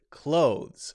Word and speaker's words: clothes: Most people are just going to use the pronunciation CLOSE as a verb.